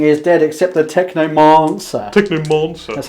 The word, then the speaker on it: Technomancer: Technomancer. That's how we pronounce it here. He's firing 2 shots. They're firing 2 shots at the Technomancer. 2 pluses to hit. There's a silent R. Mancer. Not a monster.